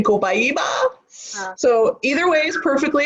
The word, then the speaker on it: copaiba: next oil is um copaiba that how you say it oh I see it hyuh I say comply bow because I'm from America and like everyone wants to